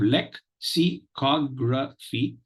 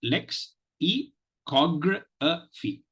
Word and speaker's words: lexicography: this particular manner you have leg C cogra Phi and not Lex e Cog fee okay so it is